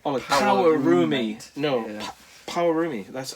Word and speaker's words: Pawarumi: Power, as in, I think that's how you say it. P-A-W. Oh. A-U-R-M-I. Like roommate. Like Pawarumi. No, yeah. Pawarumi.